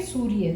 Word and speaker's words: सूर्य: अब जो हम इसका प्रोनाउंसिएशन करते हैं सूर्य का, अगर हम अलग अलग से इसको स्लोली बोल के देखें तो हमें पता चलेगा स उ र य। हम लोगों ने य से पहले र का यूज़ किया, जो